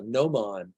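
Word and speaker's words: gnomon: there is what they called a no man good no it's spelled Geo g-n-o-m-o-nomon it's a geologist tool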